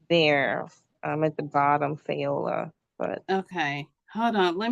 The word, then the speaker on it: Fayola: At the bottom, Fayola. But okay, hold on. Let me see. Hold on. Because I have to come out of. What's your name? Just tell me your name. Oh, Fayola.